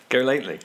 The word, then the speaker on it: Galately: What is it? Go lightly. Galately. Galately. Go lately. Yeah. No, go lately.